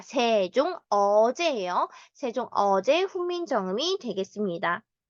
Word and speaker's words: 세종어제: 이 세종이지 생종 엉쟁이 아니라 세종 어제예요.